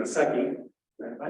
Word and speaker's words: Secchi: The reason I mentioned this was invented back in the mid-1800s by a gentleman by the name of Secchi. Am I pronouncing that right?